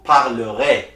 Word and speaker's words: parlerez: And like I already told you, easy at the end is also pronounced A. So you say, je parlerai, vous parlerez. For tu, the S is